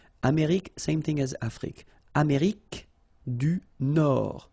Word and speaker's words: Nord: Amérique du Nord. Final D not pronounced.